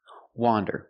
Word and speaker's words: wander: streets of the city wander with the open sound a wonderand now let's